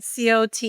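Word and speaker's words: Côte: C O T E is Cot.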